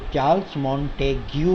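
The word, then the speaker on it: Montesquieu: चार्ल्स मॉन्टेग्यू जो है, spelling इसकी थोड़ी टिपिकल है तो, लेकिन इसका जो प्रोनाउंसिएशन करोगे आप, इसको जो बोलोगे वो चार्ल्स मॉन्टेग्यू है।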